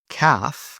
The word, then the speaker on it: calf: A silent l often before an a or before a d. For example, walk, talk, half, calf.